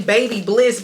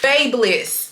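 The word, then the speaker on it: BaByliss: Baby, it's not because I want to say Baby Bliss, but I think it's called Babe Bliss or something like that. Babe Bliss. That's what it's how it's pronounced.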